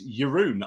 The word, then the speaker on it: Jeroen: Jeroen, which is, so that's how you pronounce Jeroen. It's not Jeroen, it's Jeroen. I've found out recently, as some Dutch person told me, corrected me quite correctly.